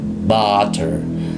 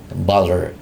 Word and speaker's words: butter: Nah, tapi di dalam fonetiknya ketika secara formal maka dibacanya butter. A-nya mulutnya ke atas butter. butter. Oke. Tapi dalam percakapan biasanya orang Amerika usually in daily conversation bter b.